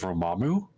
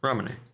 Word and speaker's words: Ramune: find a booth that sells $2 bottles of Romamu. Or whatever it's however it's pronounced. It's the soda with the marble. Oh, Ramune.